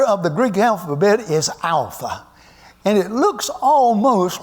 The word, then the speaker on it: alpha: an English a and it is pronounced like the Greek letter like the uh word a and father yeah I'm going to get on to this in a minute like the a in Father the second letter second